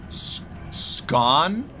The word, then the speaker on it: scone: Scone rhymes with gone, by the way. Scone.